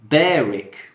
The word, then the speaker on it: Berwick: a baroque oh yeah Berwick in East Sussex is pronounced Berek Berek Berek Berek yes